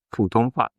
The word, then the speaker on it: 普通话: 普通话. That's it. That's how you actually say it. And so if I reference that, that's I think this is a very good example. For example, 普通话.